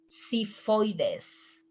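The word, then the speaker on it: xifoides: is the letter x when we start in spanish with this letter sounds like an s si voides and this case is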